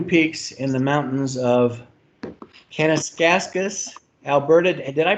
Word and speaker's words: Kananaskis: literally climbing new peaks in the mountains of kennis kaskus Alberta and did I pronounce that correct as yet kananaskis and any oh sorry about that kananaskis it's hard to read when you're in a